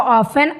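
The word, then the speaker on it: often: OFTN पढ़ते हैं इसको, ऑफन अर्थ होता है अक्सर, टी हमारा साइलेंट रहता है।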